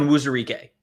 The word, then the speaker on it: Onwuzurike: Onwuzurike.